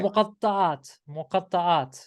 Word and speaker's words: Muqatta'at: we were talking about the mukata. Did I pronounce that right? Yeah, muqatta'at. What is it? Muqatta'at. Mukata'at.